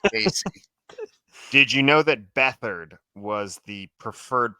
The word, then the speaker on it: Beathard: first name was Casey did you know that beathard was the preferred pronunciation family I wanted to say it it